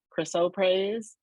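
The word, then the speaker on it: chrysoprase: notice do you notice I put the the pronunciation Crystal praise so I see how it says k-r-i-s hyphen o and then praise like you're gonna praise somebody so so people people and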